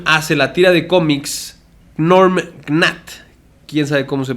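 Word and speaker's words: Gnorm Gnat: Entonces, en 1973, Jim hace la tira de cómics Norm Gnat. ¿Quién sabe cómo se pronuncia?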